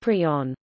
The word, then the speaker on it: prion: pronounced is also heard in his 1982 paper introducing the term prisoner specified that it be pronounced prion equals equals see also